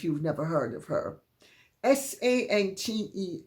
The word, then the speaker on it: Sante: Sante, accent on the X, on the E, Kimes, Kimes.